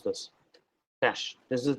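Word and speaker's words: cache: spelling is this but I know how to pronounce this cash this is pronounced in cash there's no other way it is not catchy or something okay it's cash okay cach files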